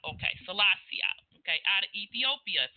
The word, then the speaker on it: Selassie: So the founder of Rastafarian, or who they model themselves after, is how do you pronounce his name? Haile Selassie? Okay. Selassie. Okay, Selassie.